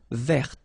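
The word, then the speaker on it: vert: remember rou there so masculine form you don't pronounce the final t feminine form ver so listen carefully I don't say t but it's t ver okay so as usual this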